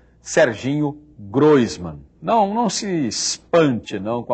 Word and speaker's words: Groisman: Todo mundo fala Groisman, mas você me disse que não é Groisman. É Groisman. É Groisman, né?